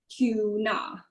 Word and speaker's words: Toona: The whole idea is to because you want to try and turn these watermelon cubes into tuna, which is why it's spelled as Toona.